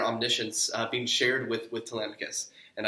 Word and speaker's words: Telemachus: being shared with with Telemachus and I am going to call him Telemachus not Telemachus or whatever other pronunciations you might have thought - so I guess